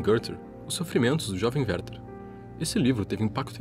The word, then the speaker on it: Werther: O personagem Werther, que aliás se pronuncia muito parecido com Goethe em alemão, teria sido um reflexo desse sentimento.